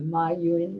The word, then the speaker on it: Ma Yun: Jack Ma, or Ma Yun as it's pronounced in China, who started Alibaba, which is the equivalent of Amazon in China.